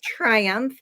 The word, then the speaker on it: Tryumph: Our name is Tryumph. And I'll say really quick, you're like, why do you call it Triumph?